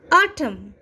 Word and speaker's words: autumn: Silent N, autumn. Okay, autumn. AUTUMN, autumn.